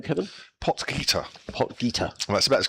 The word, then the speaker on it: Potgieter: Yes, how do you pronounce his name, Kevin? Potgieter.